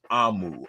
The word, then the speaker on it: Omu: lives on um yeah AMU a-a-h-m-o-o is the pronunciation I've been saying it wrong all morning thank you AMU all